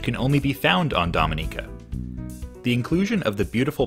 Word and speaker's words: Dominica: actually invented in canada nope not the dominican republic this small caribbean nation pronounced dominica is famous for its